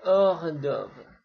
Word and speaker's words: hors d'oeuvre: Oh iya, ini seperti dalam pengucapan bahasa Prancis, saya ulangi lagi, kalau huruf H itu nggak dibunyikan ya. Le héros, le héroïne, le haricot, buncis, le hors d'oeuvre.